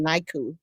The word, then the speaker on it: NICU: So um because depending on whether you're in the United States or outside of the like if you're in the UK, they pronounce it niku.